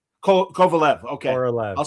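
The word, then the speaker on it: Korolev: But he is so great as Kovaleof and everything. Kovaleof. I Yeah, it's K O R O L E V. Kovalev.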